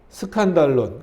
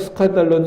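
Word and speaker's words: σκάνδαλον: 9번으로 넘어가서 보시면, 그러므로 나는 여기서 스칸달론, 그 밑에 친절히 각조가 달렸죠. 이 헬라어를 읽으면 그렇게 스칸달론이라고 읽혀진다는 거예요.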